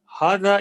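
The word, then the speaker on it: هذا: manhattan who is this hada is pronounced but it is written without the first alif arabic has no word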